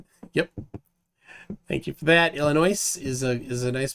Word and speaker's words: Illinois: the hard way after getting tired of people people pronouncing the s in Illinois yep thank you for that Illinois is a is a